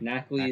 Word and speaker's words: Nacli: Nacli Nacli.